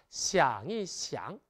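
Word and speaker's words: 想一想: 그래서 생각하다, 시앙, 좀 생각해보다, 시앙이 시앙. 이때 가운데 숫자 한 일자를 발음을 부드럽게 하기 위해 경성을 읽어주는 특징도 꼭 기억하시기 바랍니다.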